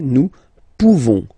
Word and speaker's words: pouvons: Okay, nous pouvons. Nous pouvons. Okay, you don't pronounce the final S. Nous pouvons.